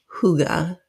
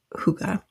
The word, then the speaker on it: hygge: So, I have But the whole idea of huga, it's spelled h y g. Um, but it's a Danish word and the pronunciation according to the book is H O O G A. So I'm saying huga.